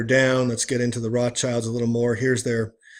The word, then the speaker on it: Rothschild: He placed a Roman eagle on a red shield over the door, prompting people to call his shop the Red Shield Firm, pronounced in German Rothschild.